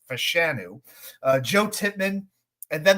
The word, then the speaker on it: Fashanu: Uh, that's how he wants his name pronounced as Fashanu.